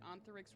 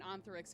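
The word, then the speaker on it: Ontharyx: Um, and Anthix is their father. How you spell that? O N T H A R YX. Oh, it's almost like ant.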